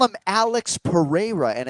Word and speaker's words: Pereira: There's no H. God damn it. I've been practicing too, John. Okay. No H, bro. Usually Pereira or Pereira. No fucking H.